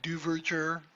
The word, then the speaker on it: Duverger: Now, first of all, Duverget, don't worry if you know how to pronounce that. It looks like Duverger. Just if you think Duverger, then you'll be able to write it more easily.